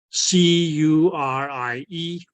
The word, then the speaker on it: Curie: The How you Curie pronounce- point, Oh, Q. Curie.